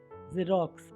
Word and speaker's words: Xerox: Next is ज़ेरॉक्स, XEROX ज़ेरॉक्स प्रतिलिपि।